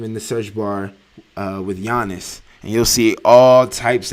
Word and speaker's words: Giannis: Anyway, stop calling that man Giannis. That shit's annoying, by the way. Don't pronounce the G all extra hard.